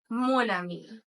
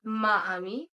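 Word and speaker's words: mon ami: For example, it's going to be monami uh not maami because as I said it starts with a wobble.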